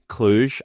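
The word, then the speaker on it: Cluj: and that bid was swiftly rejected now Chufury Kluj and yes that's how you say it and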